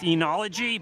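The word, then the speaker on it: oenology: The O is not pronounced though. Oology. E or O. I think you're I think you're disrespecting the O in that pronunciation. Andyy's saying it's pronounced enology.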